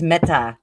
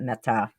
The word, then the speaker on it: Mette: I think it's Metta. I think I'm supposed to pronounce that Metta.